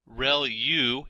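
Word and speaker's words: ReLU: there are multiple hidden layers like convolution layer real U is how that is pronounced and that's the rectified linear unit that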